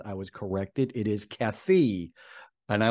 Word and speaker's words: Kaithi: reviewed Kathy Kathy we pronounced it wrong we're pronouncing kathai that's what I thought it was I was corrected it is Kathy and I like that movie a lot so